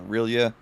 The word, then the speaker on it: R'lyeh: Yeah, I think that you can kind of pronounce it however you want. I say Rilia.